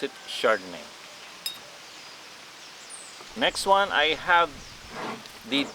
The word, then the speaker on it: Chardonnay: i have here the chardonnay so it's written on the label here in behringer founders reserve it's chardonnay so the ch you will pronounce it as letter s so it means chardonnay